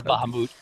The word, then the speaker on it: Bahamut: here anything goes yeah pronunciation is Bahamut anyway P dragon forge